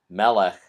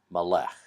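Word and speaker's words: מלך: Melek which means king Melek is also a sigil it so that makes it Melek not molec next word is mom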